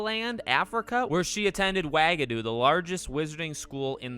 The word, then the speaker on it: Wagadu: So by the way, the official pronunciation on Pottermore is Wagadu, so I don't want to hear anything that I got that one wrong.